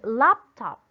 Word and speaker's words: laptop: Where should you put the stress in the word laptop? Again? Very good. It should be in lap. Okay, it should be in the word or in syllable lap.